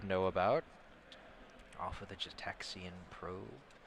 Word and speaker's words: Gitaxian: Off of the Jetaxian Probe. It's a fun card name to say, Jetaxian. I always thought it was a hard G. Gitaxian. Well, Jin Gitaxius?